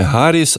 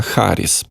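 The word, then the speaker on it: Harris: цікава може бути камалі харіс 59 років Вона одружена але не має своїх дітей і до речі Олег Шарп пише що фонетично вимовляється не Гаріс а харіс і тут ми йому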